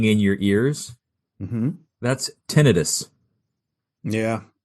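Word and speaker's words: tinnitus: And I'm like, no, it's tonitis. And I'm not ever going to be able to change that. Yeah. If you look at the spelling spelling, if you look at the spelling, it doesn't support tonitis.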